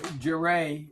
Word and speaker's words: Jeray: Am I pronouncing his name right? Jeray. Yeah, Jeray.